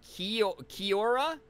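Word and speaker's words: Kia ora: It's pronounced Kiora. Oh, like one word altogether, kind of.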